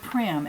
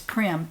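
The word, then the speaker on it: Prym: Now, in order to enter the giveaway, you have to use the word Prim, and that is there, P-R-Y-M. Be sure you spell it right. It's Prim, P-R-Y-M.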